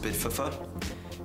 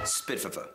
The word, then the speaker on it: SPDFF: We are SPDFF, pronounced Spitfuffa, the Society Promoting Discomfort for Freedom. Spitfuffa.